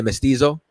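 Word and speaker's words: mestizo: You're going to say Mystiso.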